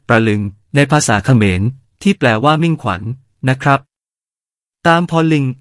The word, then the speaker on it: ตามพรลิงค์: (ព្រលឹង) ในภาษาเขมร ที่แปลว่ามิ่งขวัญ นะครับ ตามพรลิงค์ อ่านว่า ตาม-พฺระ-ลิง เป็นชื่อเรียกในภาษาสันสกฤตว่า “ตามฺพฺรลิงฺคะ” (Tambralinga) อาณาจักรตามพรลิงค์